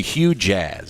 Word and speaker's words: Hue Jazz: Jazz it is this is the way you spell it h u e second word j a z z it's the Hue Jazz yep yep Hue Jazz say it quickly cuz